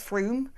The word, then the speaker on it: Frome: Like at Frome is Froome, and just outside Gloucester there's a place that everyone calls Over, and it's like nice Over.